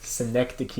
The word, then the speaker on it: Synecdoche: How do you pronounce it? Cynic something New York. Synecdoche, New York, Yes.